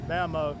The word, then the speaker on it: mammoet: It's spelled mammoet, but a guy a while ago he kind of corrected me and said mammoet.